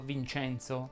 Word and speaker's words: Vincenzo: Vediamo ora le parole che terminano in ENZ più una vocale finale. Anche in questo caso la E va pronunciata aperta. Quindi avremo Enzo, Vincenzo, Lorenzo, Senza, Lenza e così via.